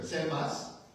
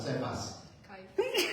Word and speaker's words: Cephas: And the people like Peter, Cephas, not Cephas, Cephas. That's a proper pronunciation.